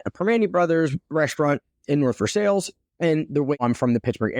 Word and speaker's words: North Versailles: Primanti Brothers restaurant in North Versailles. And the way I'm from the Pittsburgh area is because I know it's pronounced North Versailles and not North Versailles.